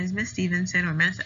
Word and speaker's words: Stephenson: my name is miss stevenson or ms s um preferably this ass because some other students tend to pronounce stevenson steffensen or any other weird combination they come up with but i prefer this